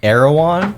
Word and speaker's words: Erewhon: I want to say it right, so I'm not trying I've been told and heard that it's Erewhon.